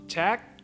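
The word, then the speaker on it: trách: It's pronounced chak. The sequence TR is pronounced ch, while the sequence CH is pronounced k at the end of words.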